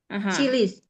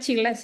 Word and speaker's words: chilies: chilies. Cabai. Cabai in English adalah Chili. so that is chili ya. It's not chiles ya Bu Dewi ya. Chilies.